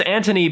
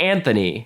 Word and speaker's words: Anthony: Anthony's name is spelled like Anthony, but everyone says Anthony.